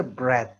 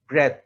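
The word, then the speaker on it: breath: একটা হচ্ছে ব্রেথ, প্রথমটা উচ্চারণে একটু তফাৎ আছে। প্রথমটা হচ্ছে ব্রেথ, যেটা ব্রেথ, এটা হচ্ছে নাউন।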